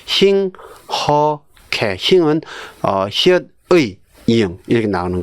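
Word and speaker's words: 힁하게: 예, 힝어케도 아니고, 힝허케.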